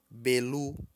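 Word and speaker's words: Bélú: nasci em outubro Novembro novembro pronuncia-se belu belu em tom alto tom de voz alto belu não é belu não significa isso um tom alto tá isso é uma vogal aberta belu é um tom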